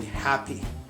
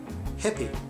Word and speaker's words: happy: happy happy you know whenever I say happy I feel like I'm creating this ha a sound a sound uh really close to my throat like this I'm happy happy but actually in Turkish we have no sounds that we create in the back of the mouth or in the choke that's why we prefer to say like this hippy hippie so that's why this is another problem we have to say happy again I'm going to